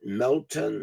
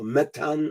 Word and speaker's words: Meton: was called metan and you can pronounce it Melton or metan or the system that